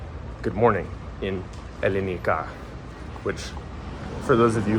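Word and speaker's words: Ελληνικά: Calimera, for those of you who are not cultured, that's how you say good morning in Elenica, which for those of you who are uncultured is how you say Greek in Greek.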